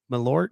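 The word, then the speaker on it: Malört: had a shot of um how do you pronounce it again alert malort malort my Lord yeah my Lord this is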